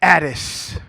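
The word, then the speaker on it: Attis: and look this name up his name is addis i will tell you about him as you look it up you spell it a t t i s he is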